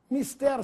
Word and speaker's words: mister: são corretas ou Mister Mister significa necessário e deve ser dito com essa pronúncia sem assento quando alguém se diz